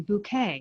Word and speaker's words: Bucket: who's got a family, her name's Hyacinth Bucket, but the appearances start with her pronouncing her last name Bouquet.